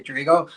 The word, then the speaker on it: Drigo: Every time I hop into someone live, they're like, Drigo, I don't know how to say it. And I'm like, just say it. But my name is literally just short for Rodrigo, but I say Drigo.